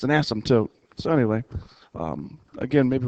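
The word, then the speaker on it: asymptote: how you pronounce it the p is silent um it's an ASM toote it's an asmt tote so anyway um again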